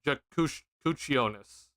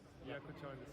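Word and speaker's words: Jakučionis: See, it's pronounced with a ch. Got it. Okay. So, Jakusionis. Jakusionis? Is that it? Honestly, I'll just look it up. It's all right. Kasparis or Kasparas. Kasparis? Yakuchonis.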